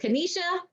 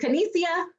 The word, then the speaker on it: Kanesia: Is it Kanisha? I think I may have said it right. No, how do I wish I could hear you, but you signed up, so we'll be talking soon, okay? Kanesia, is it Kanesia? Oh, it is, it's Kanesia.